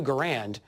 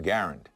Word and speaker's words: Garand: When we're speaking of the inventor himself, I like to say John Garand. When we're talking about the rifle and the Garand Collectors Association, We used the pronunciation that the whole world used and Mr. Garand accepted.